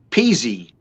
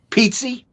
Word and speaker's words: Pizzi: my last name correctly peasy no pizzi yes an italian pizzi pizzi you're correct very